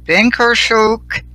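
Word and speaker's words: Bynkershoek: of the, I hope I say this right, Binkershoek Institute Research Center for Reproductive Rights.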